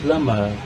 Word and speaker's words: plumber: Eu falei plumber, jump. A letra C, ela também pode ser uma silent letter.